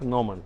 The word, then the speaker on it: Gnomon: Она пишется как Gnomon, но произносится как Gnomon.